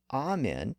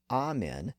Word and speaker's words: amen: But it continued to be pronounced as amen in many church services, hymns, and other religious songs, where the language tended to be a bit more conservative. So the old pronunciation as amen never completely disappeared, and today both pronunciations can be found in English.